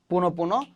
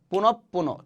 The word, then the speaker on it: পুনঃপুন: শব্দের মাঝখানে বিসর্গ থাকলে বিসর্গের যে পরের বর্ণ সেটা কি হবে? দ্বিত উচ্চারিত হবে। পুনঃপুন। তাহলে কি হবে? পুনঃপুন।